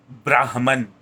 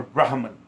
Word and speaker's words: Brahman: once which we understand as Brahman or Brahman however you want to pronounce it it's just Vedic Sanskrit word there is no right or wrong pronunciation as long as you